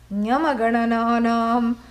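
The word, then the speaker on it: ङञणनमाः: Nyamaganananam, nasikacha. Hello, please repeat. Nyamangana, nyamangana, Nyama, look at my lips. Nyamangana. Na. That is how to say it.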